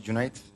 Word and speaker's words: Junaid: so my name is Junaid uh for non-turkish speakers it's pronounced like month June and number eight so it's June 8 born in June 15th